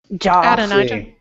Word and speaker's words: Adonijah: Adonijah.